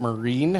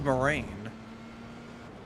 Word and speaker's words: Moraine: That's how you pronounce it, Marine. I always thought it was Moraine.